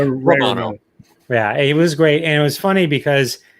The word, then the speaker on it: Romano: It was great, and Ray Morano was great. And close. How do you say it? Close, right? Romano.